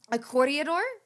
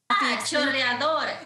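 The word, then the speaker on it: chorreador: And we even bought, did I tell you that we got, please tell me how to pronounce it, a corridor? Choreador.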